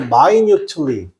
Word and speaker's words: minutely: 근데 여기서 요 단어가 조금 난이도가 있는 단어인데 발음이 minute이 아니고 minutely. 우리가 보통 minute이라고 하면 분이잖아요, 그죠? 분은 시간보다 굉장히 좁은 단위죠, 맞습니까? 근데 발음을 이때는 minute이면 여러분 분인데 여기는 발음을 minutely입니다. minutely 해서 상세하게 또는 자세하게 이런 말입니다.